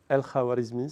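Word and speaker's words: al-Khwarizmi: Donc le bonhomme qui a inventé les algorithmes, non, c'est pas Gigachad, hein, c'est un autre bonhomme, c'est El-Khawarizmi, si vous voulez prononcer en arabe.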